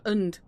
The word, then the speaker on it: dachshund: Not end. Und. Kind of rhyme with hacks.